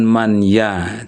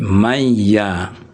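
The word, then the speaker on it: مَن يَ: Jadi man dengan ya ini digabung bukan man ya tapi mayya.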